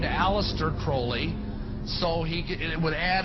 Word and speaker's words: Crowley: he likes to bring have his name pronounced crowley to rhyme with holy and the satanist today